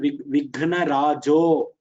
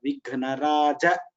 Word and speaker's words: विघ्नराज: First time you told Vighnarajo, it is Rajo is not there. Vighnaraja, that's all is there.